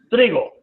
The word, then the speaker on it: Tregoe: El uno es el modelo de Kepner, con K-E-K-E-P-N-E-R, Kepner y Trigo, se escribe Tregoe, ¿ok?